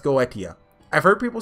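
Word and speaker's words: Goetia: want to say that I've looked that one up I've come to the conclusion it's pronounced go idea I've heard people say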